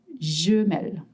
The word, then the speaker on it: Gmail: So then in France we say jl and you might want to spell it. So you say j m i a e l.